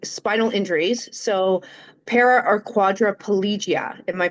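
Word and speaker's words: quadriplegia: So, para or quadripolgia. Am I pronouncing that correctly?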